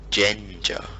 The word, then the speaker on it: Ginger: The correct pronunciation is Genja.